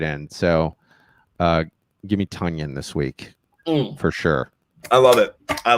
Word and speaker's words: Tonyan: about uh robert tanyan i think it's tonya because he said it rhymes with funyun like i got a